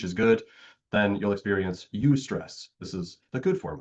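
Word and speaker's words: eustress: Ustress. It's pronounced ustress.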